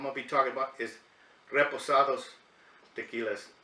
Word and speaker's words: reposado: be talking about this reposado tequila it's it's pronounce it correctly the Reposado it's not repo Sorrows cuz on this channel